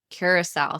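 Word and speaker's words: Curaçao: I had uh You're going to have to help me with this cuz you I always get this pronunciation wrong, but it's blue curous.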